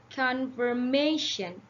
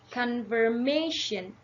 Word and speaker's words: confirmation: the second syllable so if you want to pronounce these words um it would sound like confirmation confirmation we have to put more effort on the may sound like confirmation confirmation confirmation confirmation like that hey guys that's